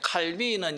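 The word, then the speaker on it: Calvin: 그 추세라서 그렇게 하면 칼빈은 영어식이고요. 원래 이 프랑스 발음은 깔뱅입니다. 깔뱅.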